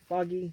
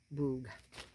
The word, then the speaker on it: Boggy: And make baby boggy creek blankets. And I think that's how you say it. I think it's bog, not boog.